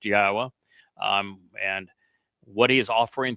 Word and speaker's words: Yahweh: why we know that his name is pronounced Yahwa, um, and what he's